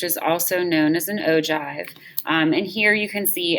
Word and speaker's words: ogive: frequency graph which is also known as an ogive and here you can see it does look like oh give but it is pronounced ogi and so what the ogive does